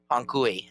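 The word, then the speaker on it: Hanc hui: But when you say it, Ankui, that's what it sounds It like.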